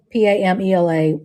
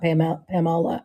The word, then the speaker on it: Pamela: She said that P A M E L A should be pronounced Pamela and not Pamola.